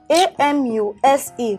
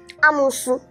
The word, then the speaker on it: amuse: A-M-U-S-E. Pronounced as what? Amusu. Eh? Amusu. Amu what? Amusu. Hey, God. This is pronounced as amuse. Amuse. Not amusu.